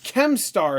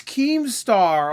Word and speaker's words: Keemstar: you don't his name right like here's this chemstar is that how you pronounce his name chemstar oh it's keemstar oh okay I've only talked about him a